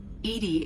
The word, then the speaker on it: EDI: yes Shepard I want to know more about you do you have a specific inquiry why are you named Edie Edie is the phonetic pronunciation of EDI that is an acronym